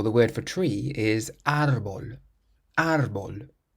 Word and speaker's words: árbol: Or the word for tree is árbol. Árbol. And it has an accent on the A, so that's why we say árbol and not árbol.